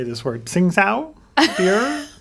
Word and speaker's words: Tsingtao: Ding Sao? Sing Sao? I apologize, I'm not being racist. I'm looking to the resident alcoholic. How do you pronounce it? I'm not getting in on this one. Tsingtao.